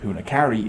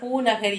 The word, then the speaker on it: பூநகரி: Sri Lanka பூனகாரி நடம் இருக்கா? பூனகாரி பூனகரி யாழ்ப்பாணத்தில் இருக்கு. இருக்கு இவர் பூனகாரிங்கிற இல்ல, அது அவர் உச்சரிக்க தெரியாம சொல்ற. பூநகரி என்று யாழ்ப்பாணத்தில் ஒரு இடம்.